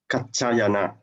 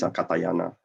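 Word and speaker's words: Mahākātyāyana: If I'm not mistaken, Ty is pronounced as Cha, Kachayana. Okay. Otherwise, sound very Japanese. Katayana, Mahakatayana, Kachayana. Because the other spelling they have is CHA.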